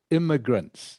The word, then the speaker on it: immigrants: Just this last word here is immigrants, pronounced immigrants. Okay. Immigrants. If the I and the M, again, this is where English is a little bit silly. All right. If the I and the M weren't there, the word would be pronounced migrants. You're correct. But when it's in this form with the I and M, it's immigrants, not immigrants. Okay, Nock?